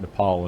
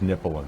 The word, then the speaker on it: Nepal: point about thinking that Nepal and Bhutan which incidentally he also mispronounced as nipple but our part of